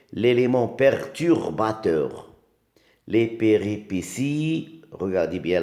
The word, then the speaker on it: péripéties: Les péripéties. Regardez bien, là aussi il y a un T qui se prononce S.